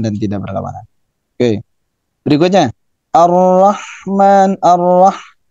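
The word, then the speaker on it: الرحمن: Ar-Rahman. Nah, lagi-lagi haknya ini memiliki sifat hams. Kemudian dari sisi dari sisi syiddah dan rekhwah, dia memiliki sifat rekhwah. Rekhwah itu suaranya mengalir, dan bukan hanya suara tapi napasnya mengalir. Ar-Rah. Kalau ra, itu memiliki sifat takrir. Takrir itu bergetar.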